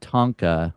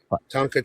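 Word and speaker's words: tanka: Yeah, I wrote a Tonka, which is very similar to a haiku. It's a tonka track.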